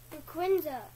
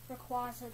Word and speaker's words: Rayquaza: Rayquaza. Rayquaza, that's how you say it. Oh, come on! Look. Rayquaza. The Y is silent.